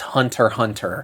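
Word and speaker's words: Hunter × Hunter: A little note on the title, it is written as Hunter X Hunter, but the X is silent, so it's just pronounced Hunter Hunter.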